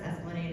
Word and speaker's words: Esplanade: Yeah, it's pronounced Esplanade. I know. That's just a thing here. But bike up there to City Park.